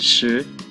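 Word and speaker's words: 十: particular character here it is this character is pronounced shi meaning ten how about this one it means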